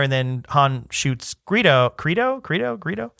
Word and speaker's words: Greedo: George Lucas in that scene, they're just sitting there and then Han shoots Greedo Greedo with a hard G.